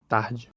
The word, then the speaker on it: tard: Notice the pronunciation of this French word again. Tard. Compare that to the Portuguese word again. Tarde. Something that sets French apart from other major Romance languages, including Portuguese, is its abundance of silent letters at the end of words.